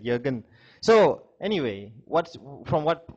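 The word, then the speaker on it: Jürgen: who what's your name Jurgen Jurgen ju r g ju j ee r GN sounds like a German name Jurgen Jurgen yeah you're good that's a German we have pronouncing it yogen so anyway what from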